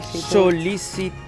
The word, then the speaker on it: sol·licitud: La segona, sol·licitud. Sí, dime que sí (RIU). Et dic que sí, molt bé! Molt bé, Amandine. Amb l·l i amb d al final, tot i que la pronuncien com una t.